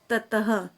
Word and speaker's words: ततः: होति धनादेश कहते हैं और विसर्ग की ध्वनि ह होती है तो इसको हमने क्या पढ़ा अभी धर्म नहीं पढ़ के इसको हमने पढ़ा धर्मः और इसको पढ़ा ततः अभी हमने इसका उच्चारण